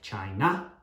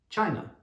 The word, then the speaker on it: China: teach a lot of students who will say things like china china but no it's not an ah sound it's an uh sound china china so if you can